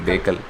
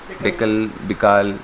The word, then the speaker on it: Bekal: I mean, if you're pronouncing it correctly, Bakel. Bikal. It's a Bikal, like. See, Bikal. Bikal.